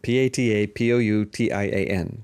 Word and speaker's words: Patapoutian: David Julius and Artem Patapotwan. Patapushian. Patapushian. I'm going to say it. Patapoutian. That's how I pronounce it in American English anyway.